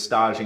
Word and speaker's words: stage: young lady who is stodging you've never heard of a stage before it's it's spelled like stage s-t-a-g-e and what that is